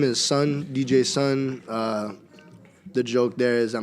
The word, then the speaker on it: DJ-Sun: DJ name is son DJ son the joke there is that my name is Jason so the D is silent J son some people never get